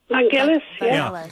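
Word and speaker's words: Vangelis: Vanalis. How do you say it? Vangalis.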